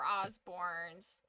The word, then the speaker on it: Osborne: And people I knew were Osbornes, but they would always say we're not that fancy. It was just Osborn, I think. Yeah, just regular Osborn.